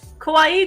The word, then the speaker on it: kawaii: Kawaii kuruma. Right. Kawaii. Make sure it's two eyes. Kawaii two syllables.